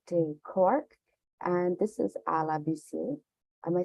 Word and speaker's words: Ala Buisir: My name is Joanna Drakipati, founding editor of Good Day Cork, and this is Ala Buisir.